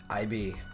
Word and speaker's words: Ib: We're back with another episode of IB. I'm pretty sure it's still pronounced that way.